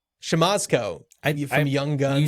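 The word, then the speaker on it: Siemaszko: And Dan, you're going to have to help me with the pronunciation on this last name because I know that you know it, but it's Casey Shamasco? Shamasco? Shamasco.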